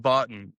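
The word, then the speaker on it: Bottin: Oh, Rob Botton, or I'm pretty sure it's Yes, that's pronounced right. Botton.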